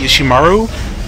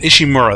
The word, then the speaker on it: Ishimura: just managed to escape the ishimaru ishimura that's how you say it ishimura that's the ship I